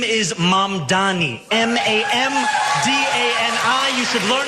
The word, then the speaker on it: Mamdani: And furthermore, the name is Mamdani.